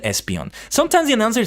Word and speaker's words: Espeon: some reason you know I only found out recently that Espeon is how you say you know the psychic Evolution for so many years I've been saying espion but I played a